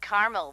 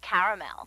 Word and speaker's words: caramel: I said Tina actually you said caramel when it's pronounced caramel can't we just call